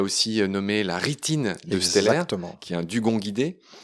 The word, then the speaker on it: Steller: Oui, alors tu l'appelles Steller, c'est bien, tu prononces bien les mots allemands. On l'appelle habituellement Steller, mais en effet, c'est